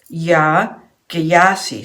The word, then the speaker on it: Yaa Gyasi: Yaa Gyasi. So that's spelled Y-A-A and then G-Y-A-S-I.